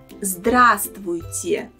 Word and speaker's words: здравствуйте: First, remember that letter V in the middle of this word is silent. So we pronounce the word like this: здравствуйте, and not здравствуйте.